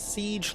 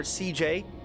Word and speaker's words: Ciej: Uh, my name is Siege or CJ. Both are technically correct pronunciations. Uh, which is the best kind of correct.